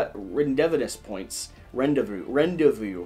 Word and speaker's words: rendezvous: written evidence points rendezvous rendezvous rendezvous points rendezvous is spelled way weirder than it is pronounced did you know there's a z in the middle of rendezvous ronda viewpoints it might